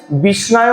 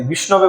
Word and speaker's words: বিষ্ণবে: সংস্কৃতে কিছু নিয়ম আছে যেমন বিষ্ণনায় বলতে নেই বিষ্ণুর নামে বিষ্ণনায় বলতে নেই বিষ্ণবে বলতে হয় এরকম কিছু কিছু বিষয়